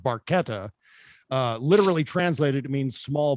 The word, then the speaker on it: Barchetta: we also we also know that uh getty mispronounces barchetta which is actually pronounced barqueta literally translated it means small boat essentially a